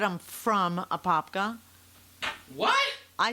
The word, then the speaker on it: Apopka: Ashley, Apopka spelled Apopka, not Apaka.